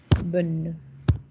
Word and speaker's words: bonne: Ya no digo la E, pero sí digo la N. Bonne.